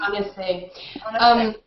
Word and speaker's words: Annecy: Can you recommend locations around, and I don't know how to pronounce this, Annecy? Annecy.